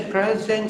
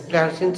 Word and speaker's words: pleasant: It's a pleasant surprise. Second spelling is correct. First time I said wrong. My pronunciation was wrong. Google took present. Second time I rectified my pronunciation. Google took pleasant.